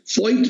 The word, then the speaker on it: Voith: और एक चीज और, मैंने एक फॉइट पेपर दिया था जिसकी स्पेलिंग तो है VOITH, फॉइट पेपर, फॉइट से ये लोग